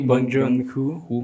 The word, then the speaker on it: Bong Joon-ho: Pero bueno, esta película sale en 2019, dirigida por Bong Joon-ho, si estoy diciendo bien. ¿Sí? Yo no puedo pronunciar el nombre. Sí, Bong Joon-ho.